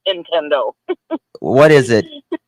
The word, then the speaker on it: Nintendo: I'm such an Appalachian listen I say intendo oh no I no no Nintendo to get you to buy their games when they send sell you that system it is Nintendo what is it how